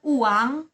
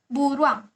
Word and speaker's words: buruang: itu berubah menjadi uang tapi baca itu bukan uang tapi buruang buruang terus ada bebek Kalau